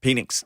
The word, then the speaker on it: Penix: Yeah, so Yeah, Phoenix. I mean, how you pronounce his name? Penix? Penix.